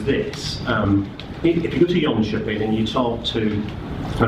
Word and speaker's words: Jönköping: So health warning, the Swedes don't pronounce it like that, right from the northwest of England. So when I say it, it comes out as Jönköping. Jönköping is a county council